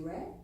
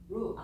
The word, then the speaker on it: 热: Is it red? Which one? Is it hot? 热. Ru, is not red. Ru.